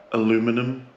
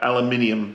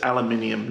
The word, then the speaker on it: aluminium: uh aluminum cans sorry did I say it right aluminum yeah aluminium sorry I'm in Australia right now it's aluminium not aluminum as much as I prefer to say aluminum um alum minum cans